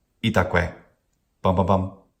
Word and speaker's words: itaque: Itaque. Itaque. Each syllable has a short vowel, and it ends in that very same short vowel. Itaque.